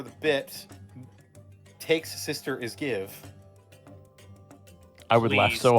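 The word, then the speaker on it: Gieve: Take's sister is Give. I would laugh Please. so hard. Please. But it's please. spelled like super weird.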